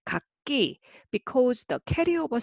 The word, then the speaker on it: 갂이: And it is also kak as a single syllable, but together it will be kakki, because the carryover sound value is different.